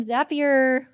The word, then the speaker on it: Zapier: our demos Mike from zappier which rhymes with happier is uh is gonna